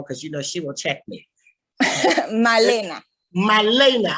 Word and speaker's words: Malena: And so then the kids at that time, some Malana, don't let me say her name wrong because she will check me. Malena. I always get the A and the E mixed up.